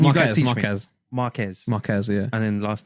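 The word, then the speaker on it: Marques: why I Marcus think people- Brown and sorry, what's his?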